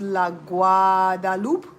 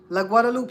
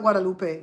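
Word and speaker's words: La Guadeloupe: It's pronounced La Guadaloop. Luadaloop. La Guadaloop. Josh. It's not Guadalupe.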